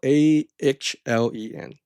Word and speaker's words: Ahlen: It's spelled Ahlen. It sounds like Allen, but anyway, let's continue.